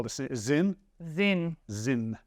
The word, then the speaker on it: Sinn: watch just call this zin zin zin I think it's pronounced z i n but spelled s i n n that has some weight